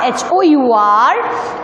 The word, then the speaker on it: hour: Okay, in word R, H-O-U-R, it is starting with H. But here, H is silent.